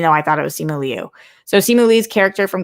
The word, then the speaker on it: Simu Liu: Okay, so I thought his name was Simu Liu, but everybody's pronouncing it Simu Lee. And I don't know, because I guess Liu is pronounced Lee. However, my 5th grade teacher's name was Miss Liu, Liu. So I don't know, but I think what I'm hearing is Simu Lee, even though I thought it was Simu Liu.